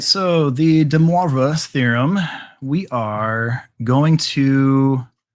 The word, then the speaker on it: de Moivre: hear you say this for me so it's pronounced de moivre you are correct yes and you have it